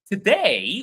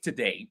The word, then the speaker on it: today: Today was a long day. Let's take today. So you will notice that today has two syllables to and day. Today, right? And day is louder than two, right?